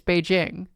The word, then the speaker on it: Beijing: Beijing like the J The proper J is in English. It's Beijing. But like you assign the reason why it's Jing is because that's like a foreign us. That is the English pronunciation of the word of the city.